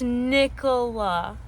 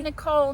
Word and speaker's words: Nicola: It's Nicola. Okay. I'm not Nicole. Nicole's somebody different.